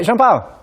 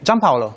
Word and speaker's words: Gianpaolo: Hey, I'm joined by Jean-Paul. Hi. How do you pronounce the name? Gianpaolo. Gianpaolo. Gianpaolo, yes.